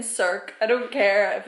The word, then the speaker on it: Circe: Greek Greek mythology and it turns out that it's pronounced curve K like what I don't even I don't like that I don't know I like that pronunciation I'm I'm just gonna